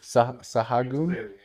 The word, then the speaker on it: Sahagun: Sagoon. I like that way better. I think the H is silent. Sahagun.